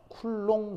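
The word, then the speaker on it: coulomb: 사람인가 그런 거 같은데요 b가 묵음이 되면서 쿨롱 이렇게 돼요 쿨롱 이렇게 됩니다 음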